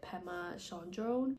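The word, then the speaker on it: Pema Chödrön: how we die by pemma Shone I believe is how you pronounce her name but she is a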